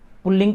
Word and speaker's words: पुल्लिंग: एक बात और, बहुत सारे लोग इसका उच्चारण पुरलिंग करते हैं जो कि अशुद्ध है। भाषा के विद्यार्थी के नाते आप ये ध्यान रखें कि पुल्लिंग कहीं भी नहीं है। रे का उच्चारण जब है ही नहीं तो क्यों किया जाए, इसलिए पुल्लिंग है ये।